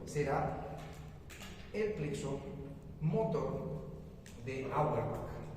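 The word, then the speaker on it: Auerbach: Entonces, este otro será el plexo motor de Hourback. Hurback se escribe Hback, sí, pero es plexo motor también tiene otro nombre, se llama plexo mientérico.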